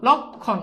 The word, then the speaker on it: লক্ষণ: কিনা এটা খুব সিম্পল দেখো দেখো লক থেমে গেছো হস লক যোগ খন খন লক খন শেষ বুঝছো কথা কি বুঝছো